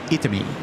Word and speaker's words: Itami: We see Itami and it's Itami. Yes. So it's very much, you break the 3 syllables down and then you say each one the way that you see it in singularity.